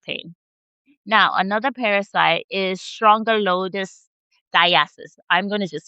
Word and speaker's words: Strongyloides: Now, another parasite is Strongyloides stercoralis. I'm going to just spell it for you.